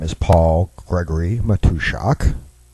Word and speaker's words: Matuszak: listening to here, my name is Paul Gregory Matushak. Name is well, depending on what languages, foreign languages you speak, either it's spelled exactly like it's pronounced or uh nowhere near.